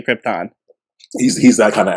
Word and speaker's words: Krypton: planet of the planet krypton trypton as marlin brandon would say yep no i